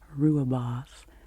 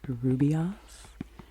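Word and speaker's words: rooibos: type of tea correctly Rua boss r-o-o-i-b-o-s I used to say Rubios and then I realized that I think in my head I was transposing um a couple of the letters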